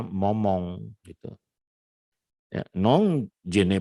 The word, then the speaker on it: moment: en ce moment, nah, dia bacanya momong gitu, ya, non je